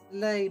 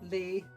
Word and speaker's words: lei: It's lei, not Lee.